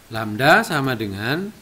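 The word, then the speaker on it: lambda: panjang gelombang ini simbolnya dengan kayak gini lamda bacanya lamda = S atau panjang tali panjang gelombang Hai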